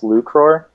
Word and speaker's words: 1ucror: Yeah, so basically the one is really supposed to be an L, so it's pronounced 1ucror.